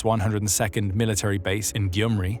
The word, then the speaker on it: Gyumri: Russia maintained its 102nd Military Base in Gyumri , near the Turkish border (which is another